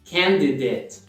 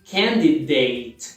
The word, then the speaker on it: candidate: A pronúncia é candidate. E não candidate. Não pronuncia aquela última sílaba como date, e sim como det.